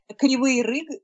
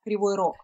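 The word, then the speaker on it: Кривий Ріг: Kryvyi Rih, it's in Ukrainian, and in Russian, it's Kryvyi Rog.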